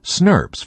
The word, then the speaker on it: snRNP: As soon as a pre mRNA is transcribed, it is quickly bound by several complexes called small nuclear ribonucleoprotein particles or SNRNPS pronounced snurbs for short.